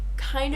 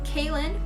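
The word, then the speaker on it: Kahlen: ocean and die so kin it's like Caitlyn but without the T and it's spelled differently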